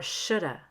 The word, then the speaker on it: should have: shark had been real could have or coulda should have or shoulda i could have done it